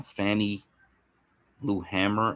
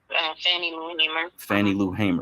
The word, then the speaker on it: Fannie Lou Hamer: not louis miss uh fanny blue hammer i believe is her name if i'm pronouncing that correctly um fannie lou hamer right so she i think